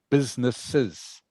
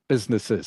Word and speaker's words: businesses: And by the way, you pronounce the word businesses. Okay. I Oh, think you said businesses. businesses. See, it's got the extra es on the end.